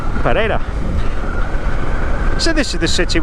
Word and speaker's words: Pereira: If you don't know Pereira, you would probably read it and say it Pereira. Pereira. But it's kind of pronounced like there's a D in it. Pereira.